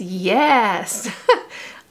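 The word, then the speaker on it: Yaaas: This is the color Yes, and it's spelled Y-A-A-A-S. So it's Yes.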